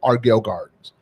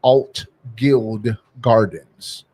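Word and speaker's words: Altgeld Gardens: So, we call we pronounce it the Argill Gardens, but it's called the right name is Alt Guild Gardens.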